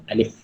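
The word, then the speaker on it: ألف: Maknanya cara sebutannya alif. Okey, ada bunyi angin sikit kat belakang.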